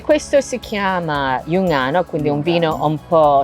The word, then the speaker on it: Giungano: Noi lo chiamiamo così, in modo dialettale diciamo sempre Jungano.